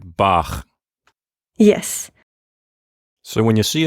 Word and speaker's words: Bach: say ch exactly so one of them is like ich and the other is in the back of the mouth like bach yes so when you